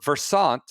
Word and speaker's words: Versant: Yes, somebody sent me like as in conversant.